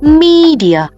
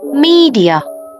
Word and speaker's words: media: từ hoàn chỉnh là media. Mọi người nhớ nhấn vào cái âm đầu tiên nhé, trọng âm media.